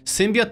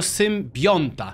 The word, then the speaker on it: symbionta: Właśnie, też pisaliście mi, że to nie jest symbiot, tylko symbionta.